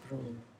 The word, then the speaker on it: Brum: The last mu is not pronounced, so Brum.